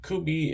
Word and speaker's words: Kubey: tonight so um the first one is a kubi koas uh could be a spell k-u-b-e-y cohes is spelled c-o-e-u-s um so I have never um